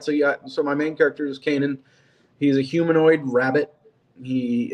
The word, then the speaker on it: Kanan: Kanan is how I pronounce Kanan. it. I talk to my friends and they turn out pronouncing it something different. I don't. I pronounce Like, it Kanan. People say Cannon.